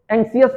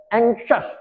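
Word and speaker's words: anxious: जैसे देखें जरा, ये इसको ज्यादातर लोग एंक्सियस पढ़ते हैं, एनक्सियस पढ़ते हैं कुछ लोग। तो इसका प्रोनाउंसिएशन है एंक्शस, एंक्शस, complexion, complexion, deflection, flexion, नॉक्शस, एबनॉक्शस, reflection, reflection.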